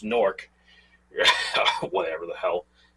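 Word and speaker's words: Newark: like a like a well nework but I think it's technically supposed to be pronounced norc whatever the hell like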